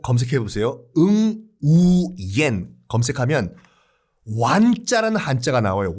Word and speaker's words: Nguyễn: 이 완이라는 그 한자를 이 베트남 발음으로는 응우옌이라고 하는데 베트남 인구의 거의 3분의 2가 이 성이에요.